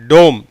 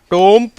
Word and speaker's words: tomb: டோம். இட் இஸ் நாட் டோம்ப், இல்லை டோம்.